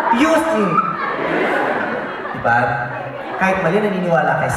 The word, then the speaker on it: Houston: You don't pronounce the T. It's Houston. Houston.